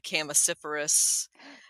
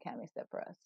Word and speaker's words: Chamaecyparis: Well, I go with the hard CH, but there is a whole school of thought that there never was, that CH was never pronounced like that back in ancient times.